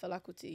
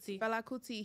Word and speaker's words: Fela Kuti: You gotta tell people about Fela Kuti.